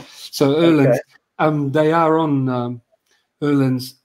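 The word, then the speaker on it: Öhlins: They used to be, I should say Erlin's. It's pronounced, it sounds like E-R, you know, is the correct way. The O with the two dots is Er. So Erlin's.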